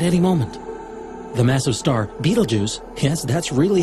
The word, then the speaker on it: Betelgeuse: supernovas literally at any moment the massive star Betelgeuse has that's really how you say it it's